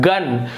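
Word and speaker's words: gun: उसी प्रकार से आप देखेंगे यहां पर यू है, देखिए जी के बाद यदि यू आता है तो भी यहां पर ग उच्चारण हो रहा है, गन, जी यू एन, गन,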